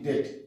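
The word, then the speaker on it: debt: উচ্চারণ করবো না আবার বিফোর টি টি এর সামনে বি T take D ই বি টি ডেট ডেট ফিউচারটা আমরা করবো না ঠিক আছে তারপর ডাউট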